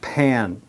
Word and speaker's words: pan: I've explained this in previous lessons, that when you have that A sound and the N, it becomes very nasal. Remember? An in American English. In British English, no, it'd be pan. But in American English, it's pan, pan, pan, pan, pan.